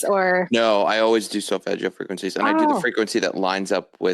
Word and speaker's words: solfeggio: Even if you go to YouTube, you can find, or you were mentioning, I always say it wrong, Selefigo, healing Oh, frequencies. solfeggio Thank frequencies, you.